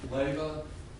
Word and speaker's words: Leyva: It's pronounced Leyva.